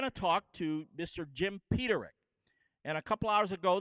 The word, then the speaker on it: Peterik: jamming java mr jim peterick he even said it right robbie i can't believe it everyone says pedrick paterick peter nick peter lick this one this jockey